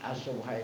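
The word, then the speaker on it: السُّبْحة: Jadi as-subhah itu bacanya bidom miskin, dengan mendomahkan sin, wa iskanil ba, ya, dan mensukunkan ba.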